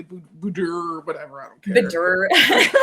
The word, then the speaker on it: boudoir: It's a French word, and it is boudoir, but people say boudoir, whatever.